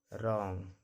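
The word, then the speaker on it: wrong: Answer, रॉन्ग, wrist. Y कब silent होता है?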